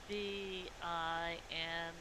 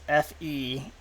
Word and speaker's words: Venri: and she kind of side eyes you and goes, Venri, let's see, that's VIN. It's FENREE. FENR. EE. Oh, you were pronouncing the V as an F, or Yes. an F as a V.